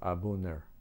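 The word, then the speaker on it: A'bunadh: It's spelled A''BUNADH, pronounced Abundir, and that means original.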